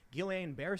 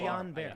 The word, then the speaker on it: Guillain-Barré: I will also say, however, to Charlie, Guillain-Barré syndrome, which I'm probably pronouncing wrong, it's a side I effect. always mispronounce it. Yeah, me too. Guillain-Barré. Guillain-Barré.